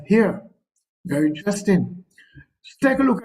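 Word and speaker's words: hir: and H I R which is pronounced as here very interesting take a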